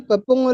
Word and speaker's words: pepong: Donc, quand je prononce pepong là, il faut que le ng qui est après, qui est sur pong, à la fin là, que ça sorte. Ng. Pong, pong, pong.